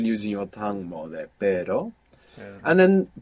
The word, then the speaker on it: pero: two hours together inside the word is gonna pronounce this Double R so the word for but in Spanish is pero pero pero p-e-r-o and the word for dog is